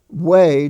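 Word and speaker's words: weigh: glean the knowledge for example when you're writing way w-e-i-g-h w-e-i-g-h and the way your fingers form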